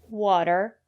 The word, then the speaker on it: water: say potatoes or flatten usually when the letter T is between vowels we pronounce the letter t as a fast the water better City and the reason is because the syllable after the letter T is not stressed water the first syllable is